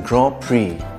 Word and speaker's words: Grand Prix: Five pence is one way that you can pronounce five pence. W as in sword. It's not sword. X as in Grand Prix.